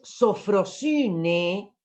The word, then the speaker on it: sofrosine: Una es sofrosine, fíjense cómo se escribe, la otra es hibris, sofrosine, pH, para la F que suena, sofro, pH, sofrosine y hibris.